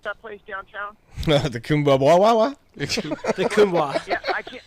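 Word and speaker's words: Kuumbwa: How do you pronounce that place downtown? The Kumbwa.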